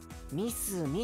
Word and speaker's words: 三角: 感覚って書いてみすみって読むんだよ聞いてください半角の歌 a さあ学区参画三角って書いてみすみって読むんだよ